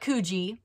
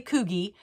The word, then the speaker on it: Coogi: sweaters and you guys it's not kuji like I used to think it's actually Coogi so I said it